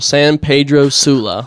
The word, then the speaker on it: San Pedro Sula: And then the area that you were focused in again, how do you pronounce that again? San Pedro. San- San Pedro. So like for white people, San Pedro Sula.